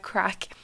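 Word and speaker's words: craic: I think it'd be cool, but yeah, I'm just gonna keep on with my story about crack, right? It's spelled C R A I C and it means like fun and kind of joviality or jovality.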